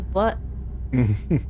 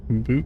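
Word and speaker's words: Butte: We're supposed to be boot. Boot. Like B-O-O-T. Yeah. And why did this spell it like butt then? Huh? It's because it's Montana. They've got like pseudo Canadian accents up there, so it's a boot.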